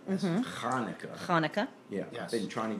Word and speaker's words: Hanukkah: Well, I'm afraid it's not Hanukkah with an H, it's Hanukkah.